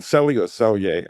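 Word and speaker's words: Selye: And Han Sier, the guy that talks about they call him Selier, I I pronounce it sier.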